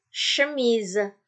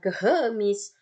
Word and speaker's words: chemise: Contoh, nih chemise, bukan kehemis, bukan sehemis, tapi chemise. Chemise.